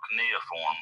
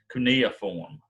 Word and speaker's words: cuneiform: write writing is called neoform writing which means which shape sorry i mispronounced that but right here right now but i'll pronounce it right on the reading cuneiform is the name of it kaneoform all right so